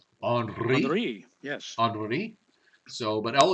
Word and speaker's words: Henri: The one, the H storm, is not a problem because we've had it before, and that's Henri, which is pronounced Henri. Henri, yes.